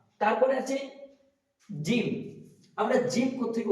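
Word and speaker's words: جيم: জিম উচ্চারণ করার সময় আমাদের খেয়াল রাখতে হবে যেন জিমটা হবে ভারী গলায়, মোটা গলায়, একদম নরম বা চিকন যেন না হয়। জিম, এটা পাশালিক টান আছে, জিম। জিম বলার সময় খেয়াল রাখবো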